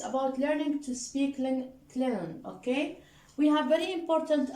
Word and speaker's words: Klingon: Now, the G is silent, Klingon.